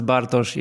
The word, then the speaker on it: Bartosz: said it very well and the way you pronounce bosi is like original version fantastic fantastic I I